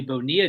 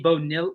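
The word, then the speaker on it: Bonilla: He was he was he was mentioning Bobby Bonia day, but he goes he goes Bobby Bonil. He goes, "How do you pronounce that?" And like Bickley had to be like Bonia.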